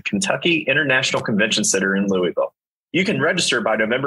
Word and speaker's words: Louisville: today we know that you're a native of Louisville or Louisville depending on how you pronounce it so for starters here um what